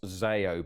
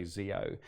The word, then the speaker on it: Zeo: so zeo and and as a greek actually it's it's if we were going to be true about it it's actually pronounced zayo but when people look